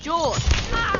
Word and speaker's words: Jorge: one up gets it Jorge my name's pronounced George Don't You backt me